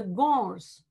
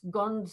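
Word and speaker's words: Gonds: largest tribal group is the gors g g-o-n-d-s guns if you want to uh make it pronounceable for those who are not local to the place but it's boars right so therefore the place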